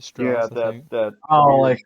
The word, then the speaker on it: Straß: It's Strass. You pronounce it Strass.